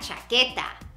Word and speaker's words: chaqueta: Depending on the weather, you may need la chaqueta. La chaqueta. Now remember that Q-U-E, that U is silent.